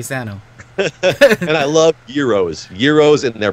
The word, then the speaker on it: gyros: you probably call them Gyros oh yeah they're pronounced Euros I they're pronounced multiple different ways Euro Gyro Hero whatever you want to say but I personally want